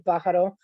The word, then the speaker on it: Pajaro: have supporting uh bajaro and thank you for pronouncing bajaro the correct way it's much appreciated by the